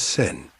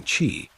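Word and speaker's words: 千: The character can be read as she, its konyomi, or Japanese reading, or as sen, its onyomi, or Chinese-derived reading. Yubaba doesn't just remove part of Chihiro's name, she changes how it's pronounced. By forcing the Chinese reading sen instead of the Japanese reading chi, Yubaba is stripping away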